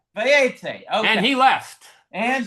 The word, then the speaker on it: Vayetzei: How do you pronounce it? Vayetzei. Vayetzei.